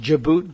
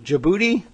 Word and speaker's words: Djibouti: from digit digit II how do you pronounce that exhibit djibouti djibouti I know that sounds funny but and and and